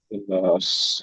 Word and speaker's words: الإخلاص: إخلاص. سورة সূরাতুল الإخلاص. ইখলাস। إخلاص. দেখেন, একটু বানান করে দিচ্ছি, سورة الإخلاص.